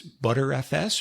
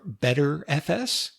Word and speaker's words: Btrfs: for RAM memory btrfs some people pronounce this butter FS or better FS is a copy on